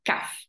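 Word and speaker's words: CAF: f c a f nevysloví c a f ale vyslovím to kaf čiže vyslovím to ako jedno slovo kaf a inak eh vždycky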